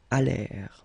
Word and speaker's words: allèrent: And then this ENT at the end, you know, the mark for the plural, well, clearly you don't pronounce it, so you get allèrent.